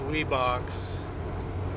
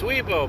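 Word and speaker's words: Wibaux: don't fall down so a lot of people think that's wee box or why box or something else it's weibo Montana Weebles wobble but did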